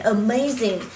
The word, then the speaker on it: amazing: Một này, fabulous, fabulous, fabulous, fantastic, fantastic and amazing. Các bạn hay nói là amazing good job vậy đấy, thì chính là cái từ này này. Amazing. Các bạn nhớ cho cô trong âm dương thứ hai này.